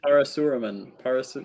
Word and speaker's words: Parasuraman: It's parse. The first syllable is parse. Smurf. It's actually not. It's actually not purse. I cannot believe you actually. Par. P-A-R. It's P-A-R-A. So like Parasuraman.